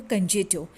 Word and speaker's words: concerto: Releasing you like a कंजेटो from my silence. अब ये जो CONCERTO है, तो इसका करेक्ट प्रोनाउंसिएशन जो है वो कंजेटो।